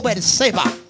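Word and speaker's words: Beerseba: Diga conmigo, Berseba.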